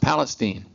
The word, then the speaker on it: Palestine: April 22nd 1946 in Palestine Anderson County Texas spelled like Palestine the country but in Texas better be pronounced Palestine he one of six